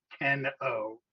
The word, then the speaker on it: KenO: I can't believe it took me 17 years to understand that your nickname is actually Ken O, pronounced Keno.